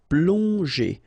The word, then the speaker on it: plonger: Okay, remember that here you've got these two letters, so pl together, on, plong, and then g and normally that's the sound j. Okay, so here you get, obviously, as usual, the ending er, so you pronounce it e.